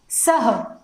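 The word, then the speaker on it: सः: और विसर्ग का जो प्रोनाउंसिएशन होता है, जो उच्चारण होता है, वह ह के रूप में होता है। जस्ट देख लीजिए, यह देखिए स, तो स के पश्चात जब विसर्ग लग जाएगा तो इसका जो उच्चारण होता है वह होता है सह, ठीक है।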